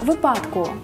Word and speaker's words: випадку: Дарина Петрівна сказала «часу» та «доньку», а Ніка – «випадку». Правильно було б наголосити так – «часу», «доньку», «випадку».